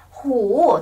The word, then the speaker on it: 虎: 看呢，狐，狐狸的狐，这是虎，他们的拼的一样，但是他的声调帽子不一样哦。